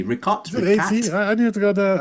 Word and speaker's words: Richat: R-I-C-H-A-T. Richat. I need to go there. I had it down as R-I-C-H-A-T. So it's spelled Richat almost, but I don't know if that's actually how it's pronounced.